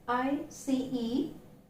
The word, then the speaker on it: ice: We have the alphabet C, but remember the sound is not Z, but it is S. So here we have I-C-E, but the pronunciation is not eyes, it's ice.